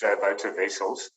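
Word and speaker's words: Wouter Wessels: like that but um like a voter in an election v-o-t-e-r you pronounce my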